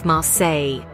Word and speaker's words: Marseille: swept away by the charm and energy of marsill as the locals say be on Vue a Mars or Welcome